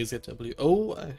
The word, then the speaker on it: ZWO: pronounce the name let let me pronounce the name as i would do in german stefan zwo or qhy a tough question having tried not only one zw camera i would of course say zwo i don't have any